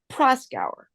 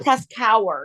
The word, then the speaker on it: Proskauer: Just be like Proskauer. Like put it's not Proskauer, it's just Proskauer. Proskauer. Proskauer. You're putting the emphasis on you're saying Proskauer. I just want you to say Proskauer.